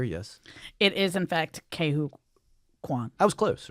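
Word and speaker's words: Ke Huy Quan: It's Ke, and then it's Huy. Hui. Hui. Yeah. I think And then so. Kwan, I'm pretty sure is correct. So K.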